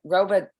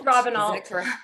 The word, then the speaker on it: Robenalt: How do you pronounce it? Robert. It's Robenalt.